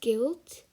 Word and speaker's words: guilt: word we have is guilt you pronounce it as g-i-l-t and not g-u-i-l-t um the f the